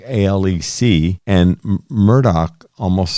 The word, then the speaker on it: Murdaugh: them are pronouncing it most of the local folks are pronouncing it in a way that's closer to the way he says it Murdoch with the c at